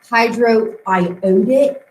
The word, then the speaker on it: hydroiodic: The iodine, that's pronounced hydroiodic, not iodic. It's iodic acid.